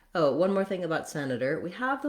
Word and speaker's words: senator: dropping right back down so it's not a hard D not Senator but Senator Senator you can learn more